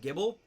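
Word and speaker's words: Gible: Yeah, I pronounce it Guyball. I know some people pronounce it Gibble. I pronounce it Gibble. Like, because it's spelled like Bible, but with a G instead of a B.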